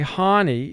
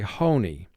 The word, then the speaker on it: honey: we say ha now if you say hani then you're going to have to indicate an exception to vowel group 2 is occurring and to say hani is a lot closer to the actual pronunciation of the word than to say honey the next word